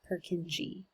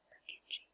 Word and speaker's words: Purkinje: Ever since then, we're going to do a little follow the bouncing ball, make sure that you can pronounce Purkinje. Purkinje. Purkinje.